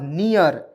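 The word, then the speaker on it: near: होता है ना, और जब भी ई ए आर अंतिम में दिखेगा उसका उच्चारण ईयर के रूप में होगा, तो इसमें ईयर जुड़िए, नी य आर, नियर।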